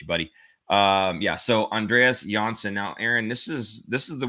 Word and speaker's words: Johnsson: So Andreas Johnsson, I think someone had said it's actually phonetically Johnsson, not Johnson.